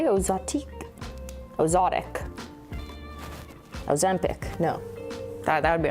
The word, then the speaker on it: OZOTIC: It's OZOTIC. I'll show you again on the darker one. Just the logo is doing something weird on top of the I, but it's OZOTIC. Not Ozempic.